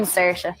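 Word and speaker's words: Saoirse: tell me how I'm supposed to say that sersa that's Sara does anyone know here to pronounce that in the audience T TIG TIG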